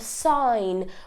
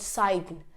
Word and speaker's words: sign: in all of these you cannot really hear the G it's not cyan it's not designed it's not foreign right it's sign design and foreign so that was rule